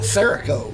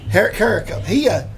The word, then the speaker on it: Carrico: That's I keep wanting to call it Serico, yeah, but it's Carrico. Carrico.